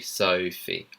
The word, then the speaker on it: Sophie: In the British accent, it would be Sophie. Oie. Sophie.